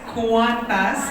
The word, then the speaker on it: Qantas: The right way to say it is Qantas kasi ibig sabihin ng Qantas is Queensland and Northern Territory Air Services. So Qantas.